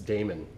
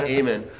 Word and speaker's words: Amen: It's Damon, I think. No, it's Amen. I got a conversation Really? about this with him. Yeah, it is Amen.